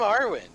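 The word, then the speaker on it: Arwyn: me club okay what is your name i'm arwen and that is spelled uh a-r-w-y-n uh-huh first time i got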